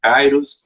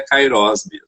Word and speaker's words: kairós: tempo kairós é que algumas pessoas pronúncia kairos mais eu fui fazer uma pesquisa mais a fundo é kairós não é a pronúncia correta e aí me chamou